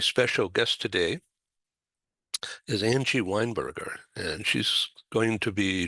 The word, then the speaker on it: Weinberger: I had a friend from New Zealand, and she thought it was Weinberger, as in the drink and the type of food.